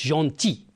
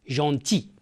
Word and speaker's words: gentil: notre voisin est gentil on prononce gentil on ne prononce pas le l gentil bien regardez que fait